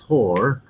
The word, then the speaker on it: Thor: to let you know in sweden thor is actually pronounced tor and we in sweden